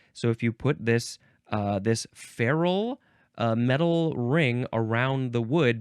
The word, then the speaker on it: ferrule: It is ferrule, but it is spelled Ferrule.